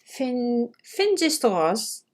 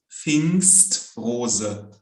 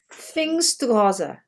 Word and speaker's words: Pfingstrose: So how do you pronounce it? Fingerstraws. So, if there's PF in the beginning of the word, it's just so Okay. Pfingstrose. Pfingstrose. Exactly, yeah.